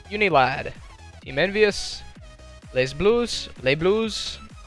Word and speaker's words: Les Blues: Pool F, number 6 of 8, Unilad, Team Envious, Les Blues, however they pronounce it, because the S is silent apparently, and then Mentality Esports.